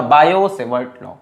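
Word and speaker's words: Biot-Savart law: ठीक है, T silent होता है इसीलिए बड़ा लिखा बायो-सेवर्ट लॉ।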